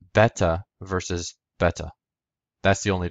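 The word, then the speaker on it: βήτα: the similarity between them beta In classical Greek it was pronounced beta in coin Greek it was pronounced Veta in modern Greek it's pronounced Vita now again for those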